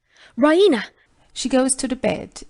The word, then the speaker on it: Raina: Raina she pronounces idaraina with the stress on the E raena she goes to the